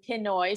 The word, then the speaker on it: Pinoy: So it's like Panay and Pinoy. So it's the first pin and then oi.